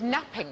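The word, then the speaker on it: knapping: no but you're right it begins with the silent k when we made early tools what do we make them out of Flint napping napping napping thing yes the napping seems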